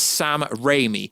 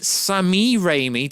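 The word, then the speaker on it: Sam Raimi: something yes guys I know his name is Sam raymie I call him Sami raymie to make you guys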